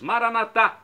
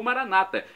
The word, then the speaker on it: Maranata: E agora eu clamo do aramaico, dialeto de Jesus, Maranatá, como dizemos nós católicos, ou Maranata, como dizem nossos irmãos separados, os evangélicos ou protestantes. Não importa a pronúncia, o significado é o mesmo.